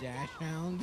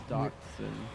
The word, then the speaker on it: dachshund: that dash hound? Yeah. You know, it's Costco rules here. Yeah. That dash hound. Is that what they're called? Yeah. Dachshund. They're dachshund. There's nothing called a dash hound.